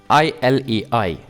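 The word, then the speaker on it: இலை: look at some examples ilai no specific barking suit it's all Dental the LA in ilay is done with a tongue in contact with your teeth number two na no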